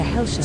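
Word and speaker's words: Hellshire: as a health retreat its name has since evolved into helsha though both pronunciations are technically correct in the early 19th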